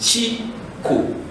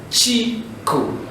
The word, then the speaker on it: Chico: Chico. So you just produce each syllable. Chico.